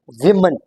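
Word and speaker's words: women: तो this is actually वुमेन। वुमेन। ये जो ओ है ना हमारे पास ए का साउंड देता है। It gives us it produce N E sound.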